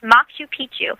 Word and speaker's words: Machu Picchu: inappropriate material so the the correct way to say it is M Pichu yes mchu Pichu with a card c in there yeah yeah mxu and